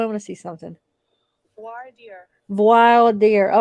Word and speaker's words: voir dire: Voir dire. Oh, I guess it is voir dire. I looked up how to pronounce it.